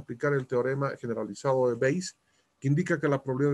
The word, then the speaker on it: Bayes: Así se escribe Bayes, ¿no? Pero se lee Bayes.